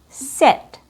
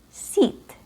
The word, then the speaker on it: sit: E sit. It's not seat. Seat. So for the long e, we have our example is s e a t. Seat. Seat. Si t. It has a short I sound.